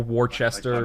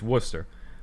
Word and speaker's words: Worcester: people say yeah or warchester people will say sometimes there's not there's not an h in there but thanks to worcester